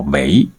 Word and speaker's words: 为: 为念作为，读第 2 声，是修为的意思。现如今人们却读作第 4 声，当作为了来解释。